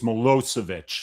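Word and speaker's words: Milosevic: See, always got the accent over the O. It's It's Melosvich. So, yeah, the second syllable is is accented.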